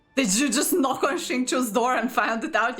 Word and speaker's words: Xingqiu: Are you confusing me with Xingqiu? That's how you pronounce his name. I've been pronouncing it yo.